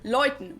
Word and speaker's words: läuten: umlaut is also used in this diphthong, where the letter combination is pronounced as oi, the same Oi. as EU in German, as in Mäuse, which means mice, Mäuse. or läuten, which means to ring.